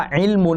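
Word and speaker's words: عِلْمُ: ว่า อิมุ อิมุ เนี่ย มี ตัว อีน กัเ เราะห์ ลาม สูกู มีม นะ ครับ ดอม มะ อิมุ อ่าน ว่า อิมุ เนี่ย นะ ครับ อิมุ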